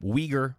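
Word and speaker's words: Uyghur: familiar with the term weager Muslims uh it's spelled with a u u it's like you u y g Hur it's weager weager Muslims weager Muslims are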